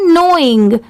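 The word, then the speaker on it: knowing: ये है नोइंग, यहाँ पर NOWING सिर्फ इतने की साउंड आ रही है, मतलब सिर्फ इतना ही प्रोनाउंस किया जाता है, बट लिखते टाइम के भी ऐड करते हैं। यहाँ पर प्रोनाउंस करते टाइम लेटर के साइलेंट होता है।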